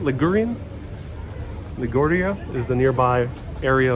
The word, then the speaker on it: Ligurian: was derived from the dialect of Ligurian, is how you say it, Ligurian.